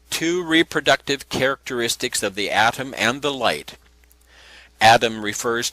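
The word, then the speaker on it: Atum: The the atom symbol formed by thought is another Egyptian god called atom. Adam is spelled a tu m and was called the complete one, the finisher of the earth.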